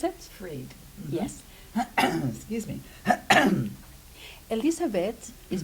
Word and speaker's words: Fried: Today we're going to be with Elizabeth Frey. Is that correct how I pronounce it? Freed.